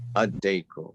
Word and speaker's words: الديك: Right, so we just said that on this side, we're going to drop the lam when we're pronouncing it. So how do you want to try again? الديك. Ad-dayku.